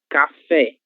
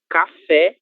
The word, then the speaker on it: café: Café. A letra e está na última sílaba e essa sílaba é a sílaba mais forte. é a sílaba tônica. Então, café e não caf caf, ok?